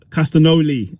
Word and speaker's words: Castagnoli: So it starts with Claudio Castillo, I think Castagnoli, that's how you pronounce it.